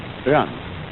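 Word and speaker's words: 仁: Although when we Romanize this word in English, we spell it J-E-N, it's pronounced Yuan. Sort of like rolling an R, or rather saying R but not rolling it.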